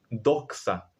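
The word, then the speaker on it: δόξα: La palabra la palabra gloria en griego es doxa, así se pronuncia.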